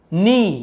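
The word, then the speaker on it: knee: नी यहां पे बोलेंगे सर नी क्यों पड़ र किनी क्यों नहीं पढ़ रहा क्योंकि के यहां पे सेलेंट होता है हम यहां पे जो के लिखा हुआ है ना इसे हम नहीं पढ़ते हैं केवल ये नी को पढ़ते हैं लेकिन लिखते समय हमें के लिखना जरूरी है इसलिए हमें इसे लिखना जरूरी है ठीक है तो हम इसे नी पढ़ते हैं खिए नी ग्ली डबल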